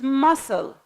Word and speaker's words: muscle: the third word is muscle the C is anti-pronounced Wednesday it's a day